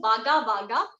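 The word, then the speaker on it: Wagga Wagga: Yeah, so there is this brand called Vaga Vaga, right? It is of, I guess, दावत जो चावल आते हैं उनकी ये oil है. आप Amazon वगैरह पे देखोगे Vaga Vaga.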